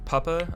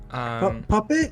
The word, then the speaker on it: Puppeh: So, there's a guy, Puppa, I believe is how you say his tag. Puppet? No. No. It's Puppeh. Yeah, Puppet. Yeah, Puppeh. Puppeh was groomed as a 14-year-old by Cinepie.